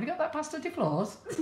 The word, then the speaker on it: Flores: Well, it's better than what I say, pasta de flores. You're saying it right. It is Flores. Spanish Flores.